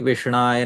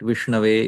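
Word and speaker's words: विष्णवे: Somebody say, instead of saying Vishnave Namah, we'll say Vishnaya Nama, incorrect. Vishnaya is incorrect. Vishnave is correct.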